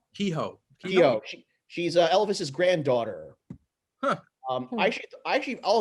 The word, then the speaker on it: Keough: How do you say her last name? Keough? Kehoe.